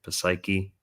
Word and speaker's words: Psyche: the gender neutrality there of Aquarius and Neptune in Pisces with silent P words like Poseidon, Psychology, Psyche.